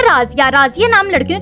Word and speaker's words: Razia: जी तो नेक्स्ट नाम है राजिया। राजिया नाम लड़कियों के लिए रखा जाता है। इसके इंग्लिश स्पेलिंग्स हैं RAZIA।